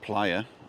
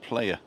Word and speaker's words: playa: Playa fania Bay and don't forget it's pronounced Playa and not player I don't know what